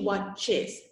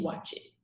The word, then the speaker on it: watches: I watch, she watches. You have to pronounce the ES, okay? I watch, she watches.